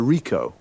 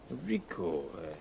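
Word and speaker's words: Ricoh: a camera what make and model it's a Rico Rico how do you spell that r i c o h uh okay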